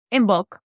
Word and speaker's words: Imbolc: How do you pronounce that? In bulk.